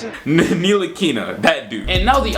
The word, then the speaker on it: Ntilikina: what Frank Nicolina, is that how you pronounce it? Ntilikina, that dude.